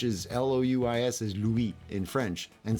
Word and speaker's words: Louis: see now look look I prefer Louis Louis but it's spelled Louie Lewis I don't know which one that is Louis in French is l-o-u-i-s is Louis in French